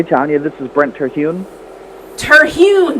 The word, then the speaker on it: Terhune: Terhune, that's how you say it.